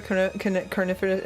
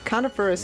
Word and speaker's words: coniferous: Isn't that what a carnivorous... No, wait. Carnivorous? Carnivorous forest. Yep. But it's not spelled carnivorous. Coniferous. How do you say that word? Coniferous.